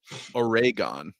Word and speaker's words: Oregon: also want to know, how do you pronounce Oregon? Oregon, actually. Is the technical pronunciation.